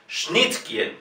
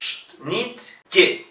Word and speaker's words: Schnittke: Schnittke. Y la E, por supuesto, pronunciamos I. Schnittke. Kie. No es que, sino que. Alfred Schnittke.